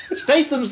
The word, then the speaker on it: Statham: Statham's the correct pronunciation.